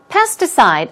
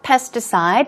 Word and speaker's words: pesticide: Pesticide, also stressed in the first syllable. Pesticide, as I mentioned.